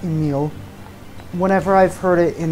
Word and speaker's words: Nier: ruins attraction square all right apparently it is pronounced Neil whenever I've heard it in the context of